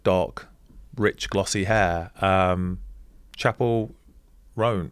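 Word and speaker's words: Chappell Roan: Um, Chapel Ran, how do you say it?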